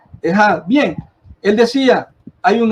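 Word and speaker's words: אחד: utilizada la palabra hebrea que se pronuncia Ejad o Eshad, decía yo, pero se pronuncia Ejad.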